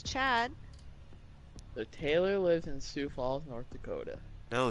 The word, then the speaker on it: Sioux Falls: Not even how it's pronounced. Sioux Falls. What is it, then? Sioux Falls. It's Sioux Falls. Yeah. Wait, did you actually think it was pronounced 6?